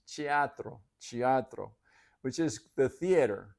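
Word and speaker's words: teatro: theatro oh they and they pronounce it chiatro chiatro I would have thought that that t would be hard since it was the beginning of a word but they say no it's chiatro chiatro which is the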